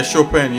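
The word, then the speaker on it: Chopin: but look up this guy called sh shopan let me see how you spell that I think it's c h o p i n this piano oh I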